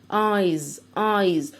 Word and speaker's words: eyes: اس البلورال أهي eyes. وهنا نطقنا الاس نطقناها ز.